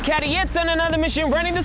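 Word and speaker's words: Cady: yo it's your boy c a d y pronounced cadit on another mission running the streets of Johannesburg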